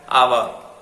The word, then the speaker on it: hour: Pronounce it as hour.